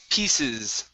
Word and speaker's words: pieces: uh next up is pieces okay this C right here will be an unvoiced S sound pieces pieces no pieces pie